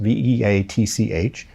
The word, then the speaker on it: Veatch: Black and Veatch, I think that's how it's pronounced, Veatch, involving work of any manner with biosafety laboratories in the country of Ukraine.